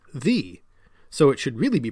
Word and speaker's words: ye: So what looks like Y-E, ye, was actually thorn-E, the.